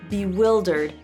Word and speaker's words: bewildered: I can click on this and see, look, I have to pronounce as in it, did, bewildered, not I.